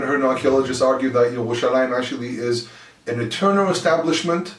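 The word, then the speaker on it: ירושלים: Day of Jerusalem, Yom Yerushalayim. Yerushalayim, the origins of the name Yerushalayim is actually very, very old. It's actually pronounced as Yirushalam, Yerushamam. There's a lot of different names there.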